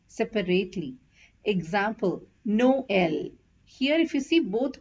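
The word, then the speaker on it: Noël: It is generally placed over the second of the two consecutive vowels to show that both the vowels have to be pronounced separately. Example, Noel.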